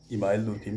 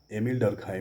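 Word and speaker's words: Émile Durkheim: जैसे कभी कभी इमाइल दुर्खिम कहा जाता है, लेकिन इसका सही जो उच्चारण, जो नाम है इसका, एमिल डर्कहाइम नाम है।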